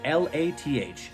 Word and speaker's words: lath: I learned how to pronounce the word L-A-T-H and L-A-T-H-I-N-G. One is lath. The other one, lathing.